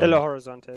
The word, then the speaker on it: Belo Horizonte: Belo Horizonte is correct.